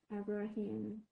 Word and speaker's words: Abraham: The last syllable is just Abraham.